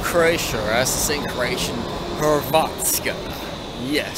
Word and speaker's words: Hrvatska: I'm in Zagreb, Croatia, as the same Croatian Hrvatska. Yes, starts with the HR. You gotta roll your R's when you speak Croatian, but the funny thing is, Croatian and Serbian language are quite similar.